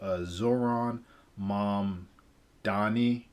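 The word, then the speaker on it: Zohran Mamdani: And then the last one is what's going on in New York with Zoran Mamdani. I believe that's how you pronounce his name.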